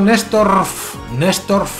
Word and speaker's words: Néstorf: El amigo Néstorf, hay que pronunciar bien la F, ¿eh?